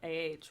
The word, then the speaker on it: ha: And then to say he, she, or it has, it's spelled AH, but it's pronounced ah.